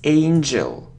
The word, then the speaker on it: angel: No, it's angel.